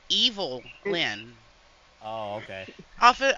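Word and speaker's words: Evil-Lyn: l-h l y n evilin hello hello no it's evil Lyn oh okay okay off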